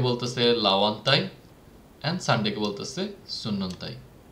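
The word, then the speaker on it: sunnuntai: সানডেটা আবার same, S দিয়ে শুরু হচ্ছে, সানডের মতো সুন্নন্তাই বলে। তো ফিনিশ একটা ফোনেটিক ল্যাঙ্গুয়েজ, এখানে এভরি লেটারের উচ্চারণ হয়। এটাকে যদি আমি বলি সুনুনতাই, এটা কিন্তু হবে না, আমাকে দুইটা এনে উচ্চারণ করতে হবে, সেজন্য এটা বলতে হবে সুন্নন্তাই।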